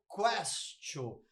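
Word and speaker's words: quaestio: Porque em latim se pronuncia questio.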